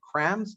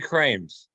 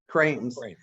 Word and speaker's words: Krames: This is our 127th show, and I am thrilled today to have our guest, best-selling author, Jeffrey Krames. Did I pronounce that right? Actually, it's Jeffrey Krames. Krames, author of the Joe Biden Way.